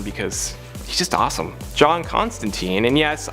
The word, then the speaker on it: Constantine: John Constantine, and yes, I know technically it's pronounced Constantine in the original source material. The pronunciation of Constantine has become way more popular, and it's been used for almost all of his live action and animated appearances, so I'm just using